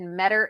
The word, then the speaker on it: Meador: Yeah, from his last interview with Bryan, he said Meador is better. So that's how we know how to say his name.